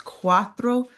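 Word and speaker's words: cuatro: So then we say quatro notice it's quatro not quto quuto means quarter after it also means like a room like a bedroom or something.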